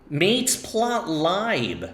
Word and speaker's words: matplotlib: This should be pronounced mateplot, right? Mateplot. And of course, this is library. So it's not matplotlib, it's actually mateplotlib. I had a friend get so mad at me for pronouncing it mateplotlib.